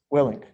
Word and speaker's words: Willink: Willink.